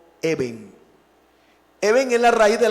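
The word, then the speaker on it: אבן: Se escribe, o mejor, se pronuncia como Eben.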